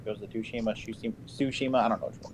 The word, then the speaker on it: Tsushima: I probably am pronouncing that wrong. Ghost of Tsushima, I don't know which one it is.